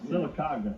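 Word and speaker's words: Sylacauga: I mean, do you ever get back to Silicaga? Am I pronouncing it right? That's right, Silicaga.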